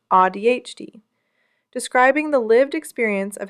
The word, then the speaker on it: AuDHD: The community developed a term for this, AuDHD, pronounced AuDHD, describing the lived experience of having both autism and ADHD.